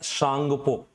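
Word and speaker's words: Tsangpo: मुख्य रूप से क्या बोलते हैं, टी साइलेंट रहता है, सांगपो, सांगपो के नाम से ये जानी जाती है, यारलुंग सांगपो।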